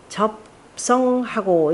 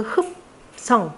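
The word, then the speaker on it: 扱: 즉 큰 제사인즉 공기 접성하고 이때 접이라고 읽지 않고 이때 접자는요 거둘 흠이라 읽습니다 거둘 숫자를 거둘 흙과 같이 씁니다 그래서 그 어디냐 대제사인 즉 그 흡성 흡성이죠 겉은 거두어서 그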